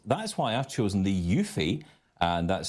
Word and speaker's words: eufy: and tidy and that's why I've chosen the yui and that's spelled EU ufy cordless handheld vacuum yes I